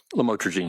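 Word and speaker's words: lamotrigine: about the u the lamel otherwise known as lamatroine. Did I pronounce that right? Lamotraine.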